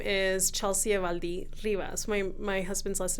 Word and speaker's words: Evaldi: Evaldi? Is it my pronunciation right? And I'm Evaldi.